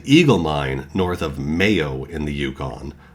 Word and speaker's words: Mayo: Eagle mine north of mayo in the Yukon I believe it's pronounced Mayo like mayonnaise I don't if it's